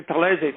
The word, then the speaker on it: Talese: And then people would say Talese, Talese, Talese. Oh, so that's how you pronounce it.